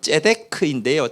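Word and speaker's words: צדק: 멜기세덱이라고 했는데 이 세덱은 정확한 발음은 ጼ데크인데요.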